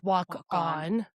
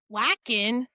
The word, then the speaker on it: Wakan: It's pronounced Walk On. Oh, It's okay. spelled Wakan. Okay. That threw me for a loop. Hmm. I was like, whacking?